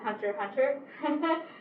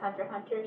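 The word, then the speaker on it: Hunter × Hunter: it's i pronounce it hunter hunter i think it was revealed um the series creator anyway is yoshihiro kobashi and he had pronounced it in an interview as hunter hunter so yeah go with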